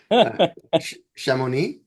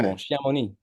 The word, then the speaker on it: Chamonix: Shamoni. Yeah, exactly. Shamoni.